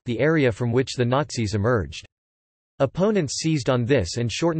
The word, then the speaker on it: Nazi: The term Nazi derives from the name given in German to a party member, Nationalsozialist, German pronunciation, Nazi, O na Lazatzi, a Elst, and was coined